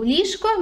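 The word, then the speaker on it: ліжко: the middle properly right you say lisko okay but if you say it quickly it sounds more likely okay so lishko means bed a comfortable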